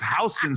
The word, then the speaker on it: Houston: It's Hston Street. It spelled like Houston, but every But you call it House.